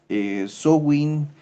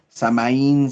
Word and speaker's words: Samhain: Después tenemos el 31 de octubre, Samhain, Samaín, Samhain, Somfuin, tiene muchos nombres o interpretación de la pronunciación del nombre, de donde se deriva